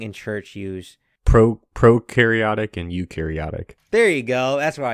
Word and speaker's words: eukaryotic: How do you pronounce it again, Nick? Eukaryotic.